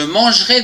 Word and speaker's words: mangerai: verbe manger demain je mangerai des frites attention ici il y a un e après le G on ne le prononce pas demain tu mangeras des